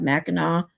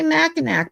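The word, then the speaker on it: Mackinac: It sounds different than the way it looks cuz here in Michigan we have Meno which is spelled Macinack.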